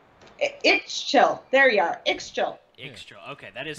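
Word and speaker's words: Ixchel: Ixchil. Okay, that is how you say it. We were debating before what the pronunciation.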